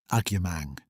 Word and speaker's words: Agyemang: She said it the way she had said her surname that morning at the desk, giving it its full weight, all four syllables, the emphasis where it belonged, and Ruth said it